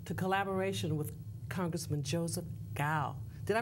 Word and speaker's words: Cao: much welcome back to collaboration with Congressman Joseph gal did I pronounce it right you pronounce it very the pronunciation is gal you know I know that a lot of